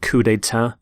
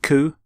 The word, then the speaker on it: coup: the pronunciation of cou you don't say the P you don't sound the P at the end cou here's the your